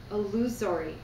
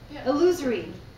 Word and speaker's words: illusory: the body condemned matter and called it illusionary elusory sorry I'm mispronouncing that Sarah how do I say that yeah okay illusory Harry thank you um it saying it does